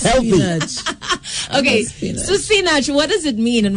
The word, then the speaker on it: Sinach: Yes, I was like Sanachi. At the islands, they call me Sinach.